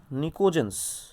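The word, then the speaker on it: pnictogens: They are collectively called निकोजेंस। ठीक, ये कहते हैं, पी को साइलेंट रख लो, निकोजेंस कहते हैं।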